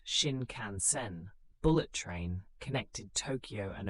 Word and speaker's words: Shinkansen: The famous Shinkansen, pronounced Shin Canansen, bullet train, connected Tokyo and Osaka.